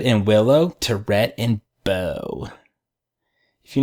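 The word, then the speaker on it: Beaux: From Scarlet and Willow to Rhett and Bo. If you name your kid Bo, prepare to get his face demolished into the gravel. Is it Bo spelled B-O-W? No, it's Bo spelled B-E-A-U.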